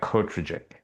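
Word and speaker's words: Kortrijk: It's something like Kotrajik. As a silent J.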